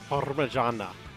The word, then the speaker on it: Parmigiana: You have to roll the R, so it'd be Parmigiana. You know, like with the G, Parmigiana versus Parmesan.